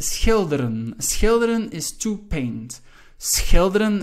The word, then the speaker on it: schilderen: Schilderen, again, the SCH, sometimes difficult to pronounce for students.